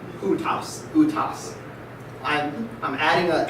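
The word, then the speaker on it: οὗτος: Remember, we don't pronounce that au. It's u. Utos.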